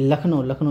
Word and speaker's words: लखनऊ: कुछ ऐसे नाम हैं जिसका उच्चारण से बिल्कुल लेना देना नहीं है, इसको हमेशा आपको ध्यान ही रखना है। जैसे मैं बोलूँ कि लखनऊ ऐसे नहीं, LUCKNOW लिखा था, ये कहीं से लिख